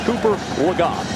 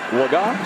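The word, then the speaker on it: Legas: And we just got word that the preferred pronunciation of this quarterback is Cooper Lega. We've been saying Lega, a guy who wasn't expected to play, hadn't thrown a pass in his entire career. Preferred pronunciation, Lega, so we apologize for that, but we will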